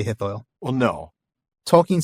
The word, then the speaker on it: Hithoel: to pronounce it, but he says you can basically just pronounce it OI. So oi, Hithoil. Okay. Oi. Just don't say it in 3 syllables. Don't say Hithoel. Say Hithoil.